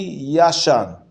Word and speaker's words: yashan: and old old old yashan means old old so if you pronounce it uh like an Ashkenazi so yashan yes now that or